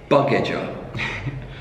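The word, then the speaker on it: Bugeja: How his name is spelled B-U-G-E-J-A. Buggeja.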